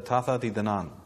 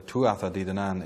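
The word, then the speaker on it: Tuatha Dé Danann: And one of these groups is known in Gaelic as the Tatha Di Danan, or the Tuatha Di Danan, if you want the pronunciation in English. It looks as it sounds there.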